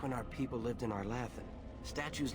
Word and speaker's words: Arlathan: time knew how they were going to be pronounced. It's Arlathan.